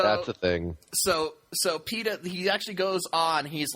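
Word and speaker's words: Peeta: we see uh uh peta peta whatever his name is PED pet is it Peta is that his name is that how you pronounce it yeah like the bread yeah oh and he's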